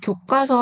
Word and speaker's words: 교과서: 왜냐면 우리가 교과서 할 때요 과가과 소리가 나잖아요. 그 발음의 변형을 좀 알려 드리기 위해서 갖고 봤어요. 교과서 이렇게 소리가 납니다.